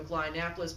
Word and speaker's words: Oklahonapolis: We head over to Oklahonapolis, born early June, making it the oldest city born in June, named after the capitals of Oklahoma and Indiana together. Short vowel pronunciation, by the way.